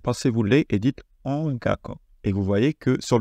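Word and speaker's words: 音楽: Par exemple, si vous essayez de prononcer ce mot, ça va pas être ongaku, ça va être ongaku, avec le ga qui va passer par le nez, du coup.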